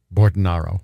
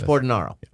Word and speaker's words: Bordonaro: caramel but it's okay are you aboard an arrow or burden ro Borden ro so yeah I've been mispronouncing your name you can say it the other way but it's Borden ro I can say Carmel